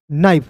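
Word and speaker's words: knife: KNI, तो के को आप काट दीजिएगा, एन का होता है नौ। IFE, तो IFE का उच्चारण आइफ के रूप में करोगे। याद रखना, किसी वर्ड्स के अंतिम में IFE दिखेगा तो उसका उच्चारण आइफ के रूप में करेंगे। तो बताइए दोस्त, यहाँ पे कि एन का तो क्या होता है? न होता है, और IFE का उच्चारण आइफ के रूप में किए तो क्या हो गया? नाइफ हो गया।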